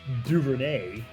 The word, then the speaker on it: Duvernay: I went with Devin Duvernay from Baltimore.